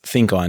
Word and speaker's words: ThinQ On: LG has unveiled the ThinQ On, which I think is pronounced Think On now that I'm looking at it. You always say ThinQ for some reason.